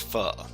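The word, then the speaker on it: phở: So we got Foe is tasty. Foe is tasty, sure. Okay, please try Dojo CTF. Dojo CTF, is that one active? With Dojo, are you talking about this one? It's pronounced pho.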